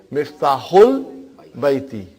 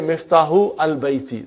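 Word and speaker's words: مفتاح البيت: Because al, remember that Hamza is Hamzatul Wasal. If it is in the middle somewhere, we assimilate it. We don't pronounce it. So you will say Miftahul Baiti. Huh? You cannot say Miftahu al Baiti. That will be wrong.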